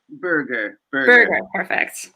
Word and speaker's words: Berger: want to make sure am i pronouncing your last name correctly do you do berger or burger burger all right and where